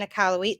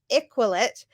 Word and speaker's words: Iqaluit: So I was saying Iqaluit for Iqaluit. So Iqaluit actually has a nice little French flair to it.